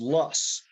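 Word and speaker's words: loess: state is covered by what's called lus that's spelled l-o-e-s-s and luss is wind-blown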